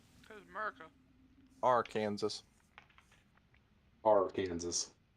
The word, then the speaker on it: Arkansas: I'm still trying to figure out why Kansas and Arkansas are spelled the same but said differently. Because America. Arkansas.